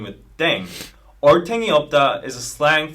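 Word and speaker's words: 땡: playing with language now pronunciation of Deng is similar to Thang yeah which is the slang of thing in English yeah last but not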